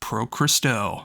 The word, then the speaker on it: Pro Christo: at the name, it is the very first syllables you hear on the album. It says Pro Christo.